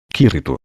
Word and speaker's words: Kirito: Sua entonação estava ligeiramente errada, então eu repeti. Kirito.